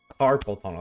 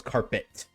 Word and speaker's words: carpal tunnel: Carpel tunnel. That's how you say it. I thought it was carpet with a T at the end.